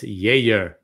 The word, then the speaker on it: Geijer: It's spelled Geijer. That's correct. Correct. You'd think it'd be Geijer. You'd think but it would. it's- You'd think, but no, it's Geijer.